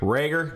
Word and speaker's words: Reagor: ward uh to uh jalen rieger sorry rager jaylen rager because i say it wrong everyone keeps saying so